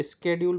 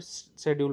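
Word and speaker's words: schedule: Difference pronunciation of स्ेड्यूल। वैसे इसको स्ेड्यूल भी बोलते हैं और शेड्यूल भी बोलते हैं। तो यूके और यूएस में इसको डिफरेंट-डिफरेंट तरीके से बोला जाता है।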